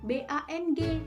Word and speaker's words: bank: Nah, menurut Wikipedia, pengucapan bahasa Indonesia yang benar, BANK itu BANG, bank.